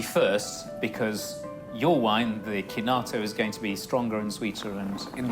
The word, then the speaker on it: Chinato: I got my pronunciation right. This is the Burello Chinato from Capilano. It's Burello Kinato from Capilano.